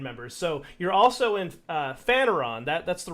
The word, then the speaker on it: Phaneron: So you're also in Phaneron. That's the right way to pronounce that, right? Yes, Phaneron.